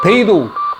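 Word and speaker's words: 北斗: 매빅 3 같은 경우는 GPS, 갈릴레오, 베이도, 중국 위성인데, 이거 세 개에서 정보를 받는다. 북두를 이제 중국 사람들이 발음을 베이도 하는 모양인데, 제가 에어 2S를 가지고 여러 번 날려보니까 최대 23개의 위성이 수신이 됩니다.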